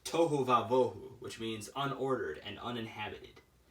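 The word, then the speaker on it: תֹהוּ וָבֹהוּ: It's pronounced tohu vavohu, which means unordered and uninhabited.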